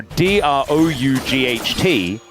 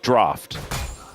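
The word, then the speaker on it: draught: Um, it's like in a reference to like beer, like draft beer.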